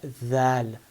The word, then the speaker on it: ذ: You have to stick your tongue out of your mouth, outside of your teeth, and give it a tiny bit of vibration. Say dha.